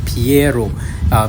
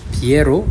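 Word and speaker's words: Pierrot: And its origin of that name is spelled P-I-E, but it's not Pi, right? It's actually Piero. So it's a French word for clown. So Piero, and that's why it's called Piemon.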